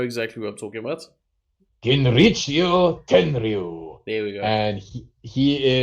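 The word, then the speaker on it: Genichiro Tenryu: Kinrichio Tenryu.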